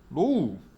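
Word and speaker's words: ρ: 그래서 전기 전도도 값이 커지면 커질수록 전기가 잘 통한다 라고 설명할 수 있고, 비저항 얘는 뭐라고 읽냐 로우 라고 읽습니다.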